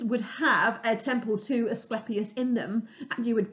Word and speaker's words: Asclepius: was the god Asclepius, or sometimes people pronounce it Asclepius, but I don't like that. I was always taught it was Asclepius.